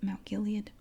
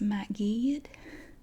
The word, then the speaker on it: Mount Gilead: from that immediate area because um they don't pronounce it Mount Gilead they it's actually pronounced mat GED if if you're from there you say Matt